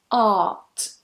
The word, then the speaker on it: art: If you're one of those people watching who wants to soften your accent a little bit, then completely forget that R there, or R, depending on how you pronounce it, and just pronounce it as one vowel.